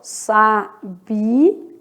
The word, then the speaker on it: sabia: Então, vamos fazer aqui, ó, sabia. Sabia separa, ó, hiato. São sílabas separadas.